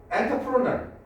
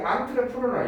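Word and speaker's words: entrepreneur: 엔터프로널 이게 앙트레프로널 이렇게 발음하거든요.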